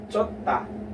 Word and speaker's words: 좋다: Another example, another word that here will sound as T.